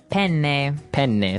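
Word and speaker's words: penne: Italian it would be pen pen so you you you double pronounce the consonant yes what about fuini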